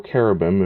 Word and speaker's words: cherubim: are dubbed as the cherubim or carobim if you're going ahead and more so using uh the Judeaic pronunciation or uh what have you.